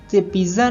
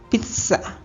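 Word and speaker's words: pizza: vegetable next word है पिज्जा पिज्जा नहीं है इसका इंग्लिश में सही प्रोनंसिएशन होगा पिसा पिसा नेक्स्ट वर्ड है रुकना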